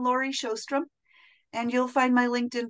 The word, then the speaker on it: Sjostrom: And my second name is spelled Sjostrom. So yeah. It's easy to remember the vowels because they're two O's. Yes. And if you imagine that the J sounds like an H, then the rest of